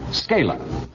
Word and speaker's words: Scala: Scala, is that the way you pronounce it?